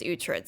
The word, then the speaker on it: Uhtred: Okay, so I know how to say this name because there is a TV show called The Lost Kingdom, and there is a dude in that whose name is Uhtred, son of Uhtred.